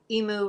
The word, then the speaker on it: emu: crazy story day yesterday so emu rhymes with new got it white house